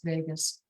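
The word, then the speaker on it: vagus: This Vegas nerve does so many amazing things and nobody talks about it except for people like me. It's not spelled Vegas like Las Vegas. Um it's spelled v a gus like vot.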